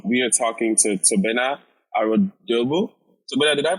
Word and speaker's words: Arodiogbu: So if I was pronouncing it, it would be Arodiogbu. Arodiogbu.